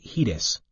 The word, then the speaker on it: HEDIS: and healthcare effectiveness data and information set, HEDIS, pronounced HEDIS.